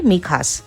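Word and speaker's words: Mijas: কিন্তু যদি বানান বলতে চান তাহলে এম আই জে এ এস। কিন্তু স্প্যানিশে যেহেতু জে কে খ উচ্চারণ করা হয় তাই আমরা এই জায়গাটার নাম বলি মিখাস।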